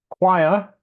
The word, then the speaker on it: choir: Choir. Problem is this, that that's how it's actually pronounced. The spelling gives little guidance on how it should be pronounced.